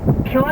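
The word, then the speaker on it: Puer: Pure is Latin for boy or youth, it's spelled P-U-E-R.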